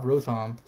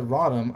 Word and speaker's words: Rotom: have rotom shiny and a lot of people have pronounced it rotten i don't know if it's rotten or rotom i'm gonna go with rotom right because you say like row and then you say tom i don't know sanam